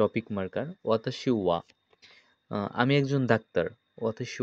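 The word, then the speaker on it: は: এটা মূলত জাপানিজে হা বর্ণ, কিন্তু এটা যখন আমরা টপিক মার্কার হিসেবে ব্যবহার করব তখন এটার উচ্চারণ করতে হবে ওয়া। তখন এটার উচ্চারণ হবে ওয়া।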